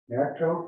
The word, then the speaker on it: NACTO: Okay, you're going to talk about membership in NACTO.